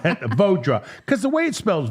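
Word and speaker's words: Vaudra: Bodra. Vodra. Why can't I say that? Because the way you spell itch. That's right. That Vodra.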